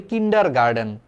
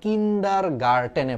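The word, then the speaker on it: kindergarten: উচ্চারণটা আমাদের করা উচিত ছিল কিন্ডার গার্ডেন আমরা উচ্চারণ করি কিন্ডার গার্ডেন খালি ড উচ্চারণ করি খালি ড ঠিক আছে ড ড না কিন্তু উচ্চারণটা একচুয়ালি হওয়া উচিত ছিল কিন্ডার গার্টেনে পড়ছি কিন্ডার গার্টেন গার্ডেন না কারণ তুমি যদি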